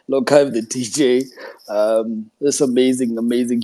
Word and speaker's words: LocHive: It's Lockhive, the DJ. Oh, so lock as in like dreadlocks.